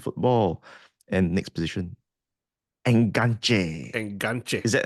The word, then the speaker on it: enganche: Enganche. Is that how you pronounce it?